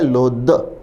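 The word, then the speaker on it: loathe: ये है लोथ। ये है लोध। फ और द का फर्क है और स्पेलिंग में अंत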